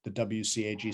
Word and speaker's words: WCAG: you can follow the wcag standards w cag is how i pronounce it but other people pronounce it different different ways if you follow the